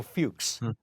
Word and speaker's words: Fuchs: television, I really want to be sure, Michael Fuchs, and Hmm. who was and I'm pronouncing his last name right?